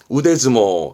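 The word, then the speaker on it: 腕相撲: 완자 그든 팔은 그렇죠 이때는 즈모 뭘까요 그렇죠 이거죠 실은 데스모 이때는 글자에 땡땡 붙습니다 데스모 해서 팔씨름 이런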